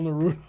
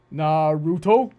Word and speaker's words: Naruto: off narut okay why did you just yell nuto do you have a problem with the please say it say his name correctly Naruto say it correctly okay so another one hear